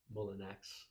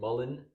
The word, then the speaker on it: Mullinax: Mullinax. Just how it's spelled. Mullinax.